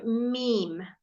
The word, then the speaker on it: meme: sound that's the kind of sound okay so meme there are lots of means about the coronavirus